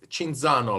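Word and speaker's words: Cinzano: famous because the name it's shinzano like the drink sinzano I guess you would pronounce it yeah and uh but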